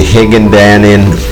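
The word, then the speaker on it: Hinagdanan: And here we're at the Higandanin Cave. That's how you pronounce it.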